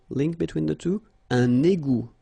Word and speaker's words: égout: Un égout. Final T not pronounced. Un égout.